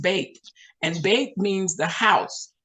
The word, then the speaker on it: Bet: It's spelled B-E-T, like the word bet, like you're betting on a horse race or something, but it's pronounced bait.